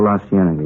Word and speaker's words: La Cienega: Over on, let's street out that way, La Cienega. Is that how you say it? Oh, La Cienega, yeah.